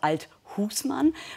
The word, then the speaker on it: Althusmann: aussprache ihres namens klären seit neuestem legen sie wert auf die betonung auf der zweiten silbe also althusmann warum jetzt noch nicht